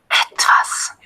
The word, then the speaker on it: etwas: Etwas.